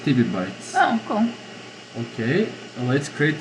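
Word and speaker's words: tebibytes: This is pronounced Tibby Bytes.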